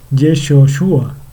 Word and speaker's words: Yeshua: es de sus hijos usa yehoshúa perdón que realmente se pronuncia yeshua sí o la abreviatura